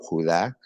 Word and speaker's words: Judá: verso por verso, porque el libro de Judas o Judá, como se dice, se pronuncia en el antiguo griego y el hebreo, Judá.